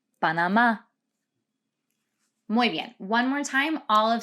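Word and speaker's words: Panamá: rica costa rica and note that the accent is there on that final a so it's not panama it's panama one more time all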